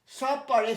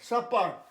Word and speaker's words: supper: সাপার, SUPPER, সাপ পিয়ার, একটা অক্ষর উচ্চারণ হয়, সাপার, রাত্রিবেলা নৈশ ভোজন।